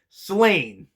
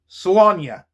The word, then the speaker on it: Slaine: In the last couple videos where I mentioned this book, I referred to the title as Slain, because that's how it's spelled, S L A I N E.